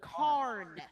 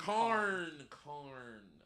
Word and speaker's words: Karn: Oh, Karn. Richard Karn.